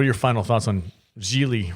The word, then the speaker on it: Gigli: your final thoughts on geely rhymes with really i'm ashamed that you